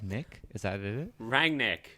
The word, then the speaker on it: Rangnick: nick is that it rang nick regnig okay just call it's not it's said exactly how it's spelled oh good jesus christ